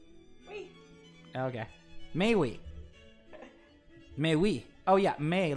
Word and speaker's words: mais oui: Mais oui. Mais oui. Oh yeah, mais like parler aimer, mais oui.